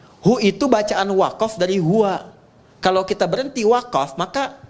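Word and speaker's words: هو: Nah, huwa itu kalau kita ingin berhenti di huwa, maka A-nya nggak dibaca. U. Contoh ayat kursi Al-Baqarah ayat 255. Allahu la ilaha illa hu. Huwal hayyul qayyum itu kalau nyambung, kalau berhenti di hu, bacanya hu.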